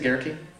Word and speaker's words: Gehrke: Now, does anybody know the proper pronunciation of his name? Is it Gehrke? Gehrke is correct.